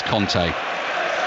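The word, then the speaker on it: Kanté: get messages about this pangolo conte pronounces his own name as kante i do this vague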